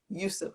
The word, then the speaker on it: Yusuf: I hope I pronounced your surname properly. Yusuf.